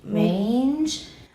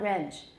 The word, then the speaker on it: range: It rhymes with change. And we worked on change before. Everybody say change. Range. Yes, perfect, beautiful. It's not range. It's very long.